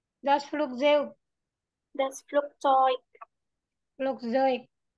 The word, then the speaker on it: Flugzeug: Flugzeug. Ya, EU kan dibacanya apa? Oh iya, oi. Oh iya. Das Flugzeug.